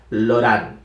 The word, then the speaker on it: Laurent: Pero la pronunciación correcta es Laurent, ¿sí? Como también Cauchy. Sé que algunos dicen Cauchy porque así es como se escribe. La forma literal es Cauchy, pero en realidad se pronuncia Cauchy, ¿sí? Y en este caso, Laurent se pronuncia Laurent.